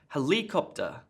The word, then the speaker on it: helicopter: that's fantastic that sounds really weird what about helicopter look there's a helicopter that surround sounds strange